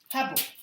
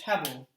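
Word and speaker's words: הֶבֶל: find vanity of vanities the actual hebrew word is hebel and or you can pronounce it the hebrew word is hevel and it literally means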